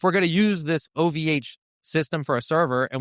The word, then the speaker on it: OVH: So we'd have to be like, "We'll use the French company OVA." Oh, so I pronouncing it ov. Sorry, I'm using a French pronunciation. That's my bad. It's my bad. It's literally OVH.